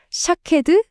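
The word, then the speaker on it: שָׁקֵד: 히브리어로 아몬드 나무를 샤케드라고 하거든요. 그런데 지켜보다라는 뜻의 단어는 쇼케드예요. 어떠세요? 샤케드. 쇼케드. 발음이 거의 정말 거의 똑같죠.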